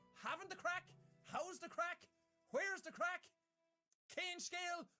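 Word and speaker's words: craic: How's the crack? Where's the crack? Cane scale? That's, again, advanced. But how's the crack just means, how are you or what's happening? And it's spelled crack, C-R-A-I-C.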